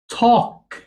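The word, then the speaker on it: talk: اي اي كان التحدث يعني توك وبالتالي الذات ل يعني حرف لا ينطق الان بالمناسبه اذا كنت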